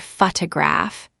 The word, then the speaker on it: photograph: For example, in the word photograph, the stress is on the first syllable, but in photographer, it's on the second, and in photographic, it's on the third.